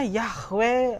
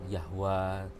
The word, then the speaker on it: Yahweh: yang sajalah yang begitu karena bahasa Ibrani bahasa aram tuh tidak punya vokal jadi unit lift hei yhwh gitu aja dari youtefa V ya Kemudian oleh pelafalan yahwe ada yang yahwa sah karena kalau misalnya orang Arab kan tidak punya hot konsumen itu ia apa-apa komentar gitu jadi kayak yahwa gitu Ya intinya adalah satu yahwe iya oke baik restore